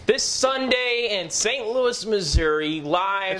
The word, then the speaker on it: Missouri: large large news this Sunday in St Louis Missouri live it's pronounced Missour Missoura and the Scott Trade Center these two mofos